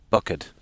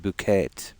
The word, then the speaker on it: Bucket: You remember something bucket, and the lady would always say it's pronounced bouquet.